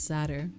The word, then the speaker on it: satyr: How do you say it? Satyrs? Wait. I definitely know what that is. I just don't know how to say it. Okay, yeah, it's sadder.